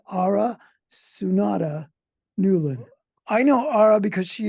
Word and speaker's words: Aura Sunada Newlin: oh I forgot to ask you how to pronounce the Middle with so it's ARA sunata Newlin I know ARA because she is the executive